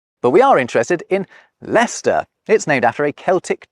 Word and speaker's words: Leicester: But first the final Roman forts: the -cesters, not a single one of which is pronounced like it’s spelt.